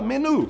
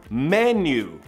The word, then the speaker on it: menu: é a mesma escrita, só que não fala menu, você fala menu, menu. Esse U tem som de you mesmo, menu.